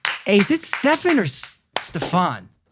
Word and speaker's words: Stefan: Hey, is it Stefan or Stefan? Stefan rhymes with effin.